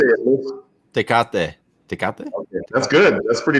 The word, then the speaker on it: Tecate: Tecate. How do you say it, Luis? Tecate.